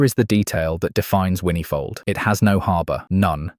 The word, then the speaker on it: Whinnyfold: Locally, it's pronounced something closer to Whinnyfold, which is the first